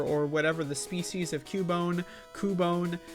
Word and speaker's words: Cubone: whatever the species of Cubone. Cubone. It is kind of weird that it's pronounced Cubone, but there's no Q.